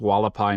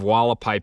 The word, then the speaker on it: Hualapai: the wallapai or haapi I believe it's pronounced walapai Mountain Park by Kingman